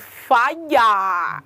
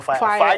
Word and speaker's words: Faya: song titled fire wow this fellow song is f-a-y-a why why does spelling do it because i pronounced like singing it i didn't pronounce it like first it's like the way you pronounce it when your house is really on fire yeah i like the